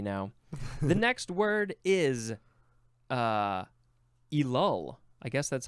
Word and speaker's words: Elul: The next word is elul. I guess that's how you say it. Or no, it'd be elul.